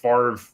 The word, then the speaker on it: Favre: I spelled it Favre. It's Favre. Favre. You spell it like fava beans.